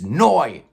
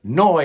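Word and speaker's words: Neu!: it's noi yes noi is how you pronounce it i think with the exclamation point and everything formed in 1971 in dusseldorf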